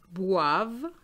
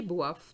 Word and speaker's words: boivent: What is in red is just telling you that you should not pronounce it. Les enfants mangent tous les gâteaux et boivent tout le jus.